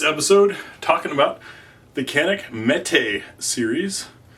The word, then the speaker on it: Mete: everyone in this episode talking about the canic Mee series not meat even though it's spelled meat Mee is a pronunciation it's a